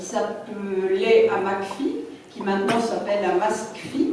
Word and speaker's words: AMASCPHI: Et donc nous avons développé une méthode qui s'appelait AMACPHI, qui maintenant s'appelle AMASCPHI, mais souvent on ne prononce pas le S. Donc AMACPHI, c'était Adami et Mazur